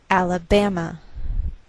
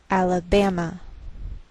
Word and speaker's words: Alabama: a lowered mark so the greater stress is on this third syllable we say Alabama Alabama what else is shared